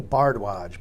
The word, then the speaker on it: Bhardwaj: bardwaj middle initial K last name bardwaj b h a r d the word heart